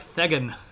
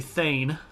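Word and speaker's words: thegn: And you're like, Thegan. I don't like that. But remember, the G makes this Y sound, so this is actually Thane.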